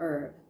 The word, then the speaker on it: herb: A remarkable herb, Benjamin put in, pronouncing the H as if to clarify.